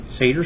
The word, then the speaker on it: Seder: Seder spelled S-E-D-E-R.